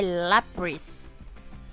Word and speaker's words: Lapras: O nome... correto de se pronunciar o nome da Lapras é Lapras. É, não sei porquê, mas é Lapras.